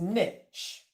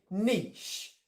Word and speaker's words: niche: british english we say niche so we drop the t the t disappears we have a long e and then we still get the ish on the end so british english is